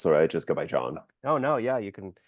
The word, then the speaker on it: Jon: that actually yeah and J N is a cooler way than JN like what's the H there for exactly it's just a silent letter it doesn't add anything